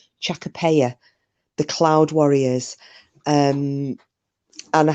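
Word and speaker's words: Chachapoya: But when we were talking last night about those cloud warriors in South America, the I pronounced it wrong, but it's apparently it's pronounced Chacapaya, the cloud warriors.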